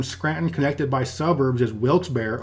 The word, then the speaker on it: Wilkes-Barre: Just down the road from Scranton, connected by suburbs, is Wilkes-Barre, often pronounced Wilkes-Barre. And from what I understand, both pronunciations are acceptable. Just don't say Wilkes-Barre.